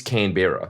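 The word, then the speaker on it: Canberra: everything in isah is pronouncing it correctly we're not it is can Bea that's how it should be said there we look at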